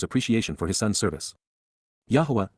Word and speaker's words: Yahweh: of his father's appreciation for his son's service Yahweh Yahweh the proper pronunciation of the name of eloah God has